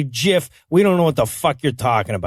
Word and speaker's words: GIF: this issue comes up the guy who invented it pronounces it jiff says one side that's a peanut butter says the other when Jesus sees are followed by an i or ii they're usually pronounced as soft says one side gift Gil's